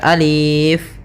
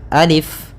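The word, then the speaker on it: ألف: Nah, maka ketika kita membacanya, untuk alif ini la yumaddu, tidak dimatkan, tidak dipanjangkan, sehingga jangan dibaca alif, tapi hanya pendek saja alif.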